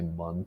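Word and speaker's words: Muun: I think it's pronounced moon, but I'm gonna say mun because calling it moon is stupid.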